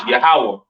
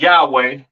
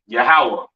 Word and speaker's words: Yahawah: so on right so the lord's name is yahwah not y yahwa or or not Yahweh all right yahawah to the left of